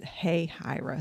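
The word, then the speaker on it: Hahira: Hey, Hira. See, I never even. So you pronounce H-A, hey, Hira.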